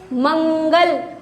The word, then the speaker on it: मंगल: इसके लगने पर वर्ण के बाद आधे न का उच्चारण किया जाता है। जैसे मंगल, किसकी साउंड आ रही है? मंगल में न की साउंड आ रही है, मंगल।